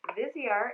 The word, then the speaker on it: Viseart: i have to mention is viseart so vizier is spelled like this in case you were